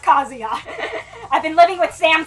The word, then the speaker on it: Kazuya: with Sam too long I know it's pronounced kazia I've been living with